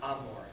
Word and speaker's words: Gomorrah: And like the city Sodom and Gomorrah. And Hebrew Sodom Amor, because the A sound used to have a G sound.